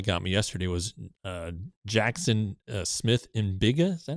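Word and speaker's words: Smith-Njigba: So the one that got me yesterday was Jackson Smith Mbiga.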